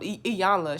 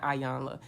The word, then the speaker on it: Iyanla: was watching something um iyanla she was on the breakfast club and you need to say her name right it's not ayana anyway she was saying